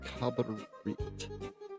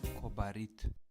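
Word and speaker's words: Kobarid: Oh, it's pronounced Kabarit here. Kobarit. Kobarit.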